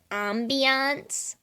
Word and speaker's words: ambiance: for Ambience Grim um it's actually pronounced Ambiance I'm so glad you